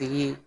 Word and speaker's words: Ye: It should really be pronounced Ye, since he said like the Yeezys.